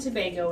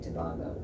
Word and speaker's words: Tobago: Because Trinidad and Tobago is an island. There's a big island and some smaller islands, but a lot of times Americans say Tobago. Ah, So I'm like, it's Tobago. Tobago.